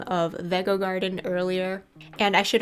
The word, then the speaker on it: Vego: you want so sorry about that it is pronounced veggo Garden but anyway right now we're assembling the